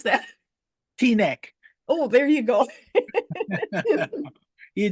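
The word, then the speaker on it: Teaneck: How do you pronounce that? T-neck.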